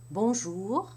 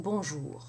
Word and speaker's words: bonjour: Let's start with bonjour. In the first syllable, you have the B with a nasal O. Bon. But you do not pronounce the N as you would in an English word.